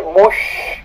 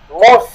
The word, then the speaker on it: muss: Cuando se dice a mí me toca, yo debo ir a Berlín, no se dice muss, como si fuera con SSH, sino solamente doble S. Escucha la pronunciación de nuevo. Ich muss.